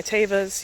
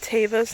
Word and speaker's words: Tevas: I just walked through the creek and I'm wearing my Tevas. Yes, they are pronounced Tevas, not Tevas.